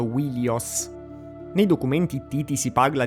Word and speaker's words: Wilios: In greco Troia veniva chiamata anche Ilion o Ilios, ma sappiamo che probabilmente nell'antichità il nome era pronunciato Wilios.